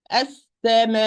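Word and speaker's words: السماء: I'm going to say as-sama. So what is the last letter? The one who is listening to me. What is the last letter? So apply nub. So the hamza will be audible. Okay? As-sama.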